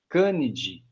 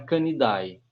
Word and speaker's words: Canidae: E aí a gente não fala o A. A gente fala D. Né? A gente não fala família Felidae. A família é Felidae. Okay? O A é mudo. Para todos eles. Toda a família a gente não vai falar o A. Canidae não é Canidae.